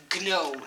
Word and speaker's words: gnome: And you all commented that you love the fact that I say gnome. And I thought the G, you needed to pronounce it, but it is gnome.